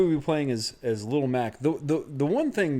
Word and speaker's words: Little Mac: those hammer brothers also is it little mac or lolmac it's little mac that's how they always spell it that's good the way you say it is up to you i'm probably going to